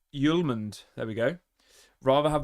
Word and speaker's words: Hjulmand: He's pronounced Yuland.